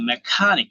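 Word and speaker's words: mechanic: মেকানিক মেকানিক মেকানিক মেকানিক এখানে একটা stress রয়েছে হ্যাঁ মেকানিক এই জায়গাটায় আমি বক্স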